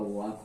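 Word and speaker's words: walk: Half हो जाएगा, half हो जाएगा, ये आपका वॉक हो जाएगा, वॉक बोलते हैं, ठीक। सभी में एल साइलेंट हो गया।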